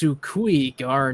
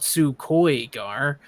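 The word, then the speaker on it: su cuy'gar: when somebody's like, "It's Sukui-gar, not Sukoi-gar," I look through Yeah. the book and I'm like, "Oh yeah, you're right."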